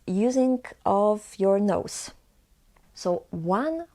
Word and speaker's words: ą: So one way of pronouncing this letter is to say O, not A, but O, and add a nasal sound. And this is on.